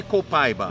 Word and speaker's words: copaiba: i was saying okay yeah that would be copaiba in our language this one is and they say it grows here in brazil oh really yeah so i was wondering will we see this today reticulated copaiba balsam it's a balsam copaiba balsam i don't